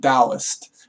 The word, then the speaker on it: Taoist: Everyone knows that obviously the word is pronounced Taoist, but he calls it Taoist monkey because he's the master of it. So he knows obviously that all of China, everyone who studied Taoism is wrong. It's pronounced like a T, not a D.